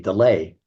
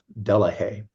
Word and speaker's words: Delahaye: But in France or in Belgium, the part where they speak French, they pronounce Delahaye delay, but the English pronunciation of it is Delahaye.